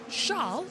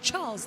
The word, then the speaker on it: Charles: which is arur lir his brother charl not Charles lir char charir has got